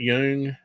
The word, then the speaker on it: Jung: How do you pronounce that? Jung.